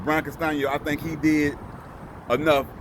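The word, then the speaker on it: Castaño: My personal opinion is, excuse me, I think Bryan Castano, say it right, Bryan Castano, I think he did enough to actually get the W, man, last night.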